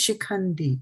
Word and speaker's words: शिखण्डी: Yeah, it is śikhaṇḍī, right?